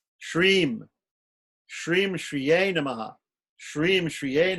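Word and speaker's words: श्रीं: The bija that goes before Shriye Namaha, we take Shri, which is the first syllable, Shri, first letter, and we add M to it. Shreem.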